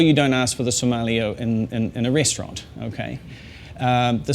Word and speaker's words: sommelier: The way to say it is sommelier, and if you can say the word so, and you can say the word yeah, and you hold the L, so you go sommelier. Okay, can you do that? Sommelier. Okay. In New Zealand we might say sommelier, and that's fine, but I like to say it the American way, sommelier. And just hold the L a little bit is all you need to do.